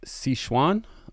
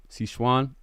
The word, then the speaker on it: Sichuan: about the city and the city's name is si schwan i believe that's how you pronounce it s-i-c-h-u-a-n c schwann so let me read this